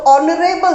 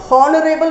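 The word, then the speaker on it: honourable: एच से sound नहीं आया बिकॉज एच आपका साइलेंट है। साउंड आपका ओ लेटर से आया है और शुरुआत होती है ओ से। तो ऑनरेबल साउंड आ रहा है, ऑनरेबल, इट्स नॉट हॉनरेबल नहीं बोलेंगे इसको, ऑनरेबल बोलेंगे तो साउंड ओ से आएगा।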